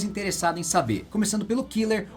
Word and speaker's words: Killer: em saber começando pelo Killer ou Kira Como é o seu nome pronunciado em japonês a sua grande inspiração